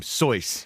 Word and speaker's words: Seuss: And also, Dr. Seuss pronounced his name Soyce.